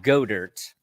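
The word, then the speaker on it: Goedert: I made a space ball it's it's actually pronounced godert um somewhere along his lineage people like actually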